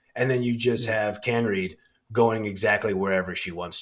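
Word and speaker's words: Kaneryd: Johanna and I actually I think I said her name wrong earlier it's can Reed I believe it is Johanna can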